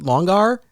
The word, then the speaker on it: LongAR: myself I was like do I pronounce it long r or or longer and ultimately I was like I think it just would sound stupid as much as in